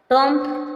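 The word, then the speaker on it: tomb: आएगा साइलेंट बम बी ओ एम बी बम silent बम मीस बम टम टप मींस समाधि टम मींस समाधि टम टम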